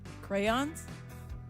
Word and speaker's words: crayons: in their coloring book are called crayons see you say it right how I'm sorry there people in this city that say Crown oh I know I